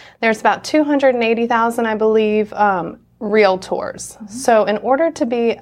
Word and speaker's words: realtor: under their skin so it's a real tour so that's the proper pronunciation so that's the first